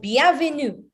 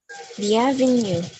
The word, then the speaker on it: bienvenue: She said, bienvenue. Bienvenue. Bienvenue. Don't say bienvenue. No, bienvenue. Bienvenue. En français, le prononciation est très important.